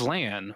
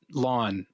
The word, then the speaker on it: Lan: goes by Liana but she did pronounce LAN as LAN when she said his name and not not lon so right so I